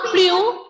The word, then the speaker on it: plus: Plus in French is Plu. Okay, same spelling as in English. We will pronounce it as Plu. Ending letter S here will be silent.